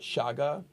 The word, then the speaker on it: Chaga: Chaga, is that how you say it? That's right. Chaga.